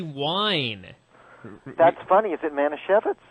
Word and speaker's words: Manischewitz: How do you pronounce that? That would be Manischewitz.